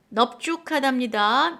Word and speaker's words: 넙죽하다: 그리고 넙죽하다, 넙둥글다만 비읍으로 발음해 주세요.